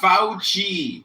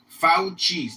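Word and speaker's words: Fauci: His name is pronounced Fouchi. Fouchi. Get it right pe Fouchi.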